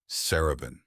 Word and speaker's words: Saraban: Saraban. Four syllables. I carrying a rising tone that indicated both respect and formality.